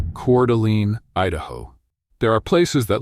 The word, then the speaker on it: Coeur d'Alene: Located in the Idaho Panhandle, Coeur d'Alene, pronounced Coeur d'Alene, is the kind of town where retirement doesn't feel like winding down.